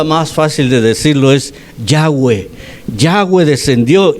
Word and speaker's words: Yahweh: Y entonces la manera más fácil de decirlo es Yahweh.